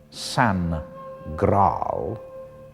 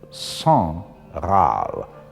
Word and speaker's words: Sangraal: in the wrong place it's not Sam growl but song I'll and that now means